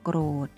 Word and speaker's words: โกรธ: โกรธ สะกด ว่า กท โกรธ โกรธ เวลา สะกด จะ สะกด ด้วย ตัว ทอ ธง นะ คะ แต่ เวลา อ่าน จะ อ่าน ออก เสียง เป็น ตัว เด็ก ค่ะ ทำ นี้ ก็ ไม่